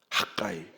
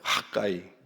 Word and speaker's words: 학개: 모에드 하그이 학계는 이름의 뜻이 나의 절기들이 뜻입니다 학가이 한번 따라해 보실까요 학가이 가이가 원래 발음이고 우리나라 발음은 학계가 되겠습니다 그래서이 학에서는 절기와